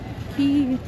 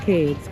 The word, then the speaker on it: Cay: This is Ocean Key. The Bohemians pronounce it key. We would call it K, but they always say it's not K, it's Ki.